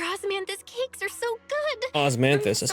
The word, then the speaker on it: osmanthus: Osmanthus, that's how you pronounce it.